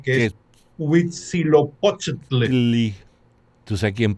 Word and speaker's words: Huitzilopochtli: nombre tan difícil e impronunciable que que es Huitzilopochtli. tú sabes quién Es, pronunciaba bien, hablaba náhuatl, pero perfecto. no, Zapata, Zapata, claro, sí, porque estuvo en México. claro. Entonces él dice Huitzilopochtli, Huitzilopochtli.